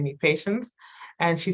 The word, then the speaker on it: Patience: decided to name me Patience. And she said she named me in French, so I always feel bougie, like no, it's pronounced patience.